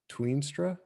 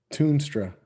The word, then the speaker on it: Toonstra: Tweenstra? Is that how you pronounce it? Toonstra.